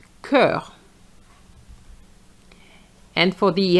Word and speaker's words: cœur: oignon which is an onion Now for this one cœur even though it's a CH and I we know that CH is sh but here is going to be k. cœur And for the EST